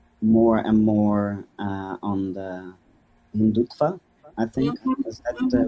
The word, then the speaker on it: Hindutva: With the new rise of nationalism and the Modi government being more and more on the Hindutva, I think, is that the right pronunciation?